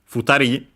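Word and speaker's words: 二人: Futari should be accented on the ri.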